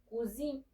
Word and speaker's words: cousine: No hay que hacer como que tan pronunciada la última E, porque si no entonces ya me estarías diciendo cocina, porque cuisine, esa también puede significar cocina, ¿ok?